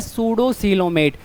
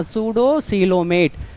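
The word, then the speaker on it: pseudocoelomate: तो ये कहलाता है सूडोसीलोमेट। पी साइलेंट होती है बेटा, ध्यान देना, सूडोसीलोमेट।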